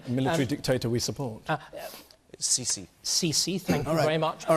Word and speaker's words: Sisi: The president of Egypt, Sisi, or Sisi, or however he pronounces his name. Military dictator we support. Sisi. Sisi, thank you very much.